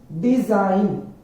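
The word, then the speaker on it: design: जी एन ए साइन डीई एस आई जी एन डिजाइन यहां पे भी जो जी है वो साइलेंट हो गया है डिजाइन आरई आई जीी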